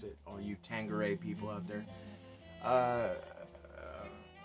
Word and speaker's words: Tanqueray: Tanqueray, by the way, that's the way to pronounce it. All you Tanqueray people out there.